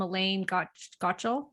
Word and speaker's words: Elaine Gottschall: But the specific carbohydrate diet, if I do believe it, comes originally from Elaine Gottschall, right?